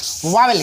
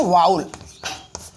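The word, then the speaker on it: vowel: वावेल क्या है? बहुत ही इंपॉर्टेंट चीज़ आपको बता रहे हैं आज। वावेल जिसको बोलते हैं वाउल।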